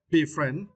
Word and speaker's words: befriend: and for this words you need to stress the second sh friend be friend is meant to become